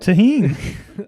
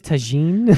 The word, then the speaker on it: tahini: They said, "Have you guys tried this tagine?" Yeah. They did. They mispronounced it.